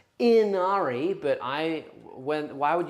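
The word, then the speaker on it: Ynnari: in the same way that uh it's technically pronounced Inari but I when why would you give it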